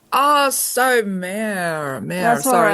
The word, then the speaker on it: Mare: And by the way, it's Mare. It's just one syllable. Oh, so Mare.